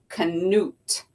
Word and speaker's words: Knut: word and it says how to say it Knut all right I'm gonna read the story about